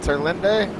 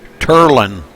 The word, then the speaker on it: Terlinde: Dylan Terlinde. Is that how you say it, Rudy? Turlin. Forget the E. I'm sorry. Turland.